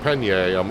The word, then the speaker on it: Pallegney: I know the first time someone told me it's pronounced Pallegney, I'm looking at how it's spelt in the mod. I'm like, huh? And then they led me to where they led me to a video of a French person saying it.